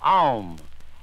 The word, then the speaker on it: Aum: Next, we have the health-giving vowel of Aum, A-U-M or A-U-M.